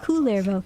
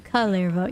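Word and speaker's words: Kullervo: Not Coolervo, Calervo. Yeah. I know that they're pretty much the same name. It's spelled differently though.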